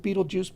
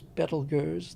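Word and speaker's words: Betelgeuse: Um Orion is a spectacular constellation and will be until um everybody calls it Beetlejuice, but I believe the correct pronunciation from the Arabic is Betelers.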